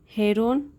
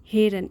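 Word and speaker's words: heron: तो चलिए शुरू करते हैं आज की स्टोरी, जिसका टाइटल है the wicked हेरोन एंड the crab. The wicked हेरन, इसकी करेक्ट प्रोनाउंसिएशन होती है हेरन एंड द क्रैब।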